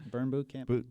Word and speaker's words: Burn Bootcamp: Is that how it's pronounced? Yep, Burn Bootcamp.